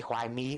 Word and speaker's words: Hoài Mi: So let's just go over to this lady Hoài Mi over here. That's how it's pronounced in Vietnamese.